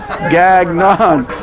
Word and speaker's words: Gagnon: out and that's a Gagnon G a G and ol n and it's pronounced just the way it's spelled Gagnon just thought I'd tell